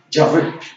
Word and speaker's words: Yahvé: se conocen las vocales, se pronuncia como Yahoo o Jehová, lo que nosotros conocemos como Jehová. Lo más parecido es Yahvé.